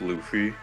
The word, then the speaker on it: Luffy: So, about the comment that it's pronounced Luffy.